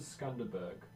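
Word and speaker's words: Skanderbeg: Lots of people pronounce it Skanderberg, but it doesn't have a second R. Skanderberg, I think.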